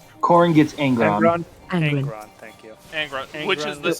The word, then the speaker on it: Angron: I cannot pronounce his name. Korn gets Angron.